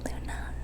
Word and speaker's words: Loona: basically make her and her name is luna luna say but it's spelled l-o-o-n-a and it does change your whole